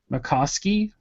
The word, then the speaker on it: McCoskey: We're on the one which is the weekly text prompts, and it looks like it's Jen McCoskey. Yes, it is, and that is how you say her name.